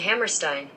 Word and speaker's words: Hammerstein: Rodgers and Hammerstein. Okay. Even my name is Stein. Why am I pronouncing it Steen then?